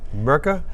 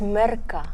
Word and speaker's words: Mirka: hello yeah that's perfect there is there's a way to pronounce it in with a South African accent isn't it that's right yeah it's Mera Mera I've tried with my friends before they struggle with the R so don't worry so